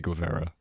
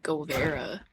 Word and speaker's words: Guevara: Why is everyone saying Govera? Am I saying it wrong? Vara? Guevara? I mean, like people, like news reporters. Che Guevara. Like Denims was watching. We're saying Govera. And I'm like, what?